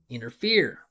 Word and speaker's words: interfere: Listen. Interfere. Inner. Right? I mean, I guess this is a pattern you guys could just pick up on right here. You can start just maybe, if you really wanted to memorize stuff, you could just say, okay, anything with I-N-T-E-R, inner.